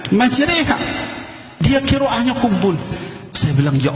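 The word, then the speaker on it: مجريها: bismilahi majreha wa mursaha ditulisnya majroha dibacanya majreha WA nya kumpul bilang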